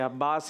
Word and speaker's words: अब्बास: और अब्बास ठीक है, अब्बास ही प्रोनाउंसिएशन ठीक है।